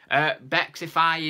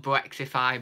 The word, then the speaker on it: Bexify: Bexify is in, not Brexify, but Bexify. I nearly said it wrong again then.